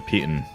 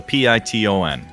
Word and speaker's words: piton: I'm gonna take a hammer and a python, or a python, however it's pronounced.